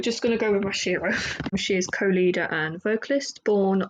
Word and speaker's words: Mashiro: about um the show and the group um masiro who I constantly mispronounced your name so sorry about that I